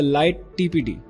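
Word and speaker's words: lighttpd: 7 we have the light tpd now light tpd which is pronounced as Lighty is a web service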